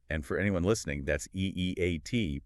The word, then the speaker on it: E-E-A-T: And for anyone listening, that's E-E-A-T, pronounced as letters, not eight.